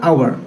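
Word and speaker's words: hour: में एच क्या है कंसोनेंट एच क्या है साइलेंट है तो और इसको पढ़ा कैसे जाएगा आवर आवर में अ साउंड आ रहा है दोस्तों क्या है वो वोवेल साउंड है इसलिए पहले हम इसके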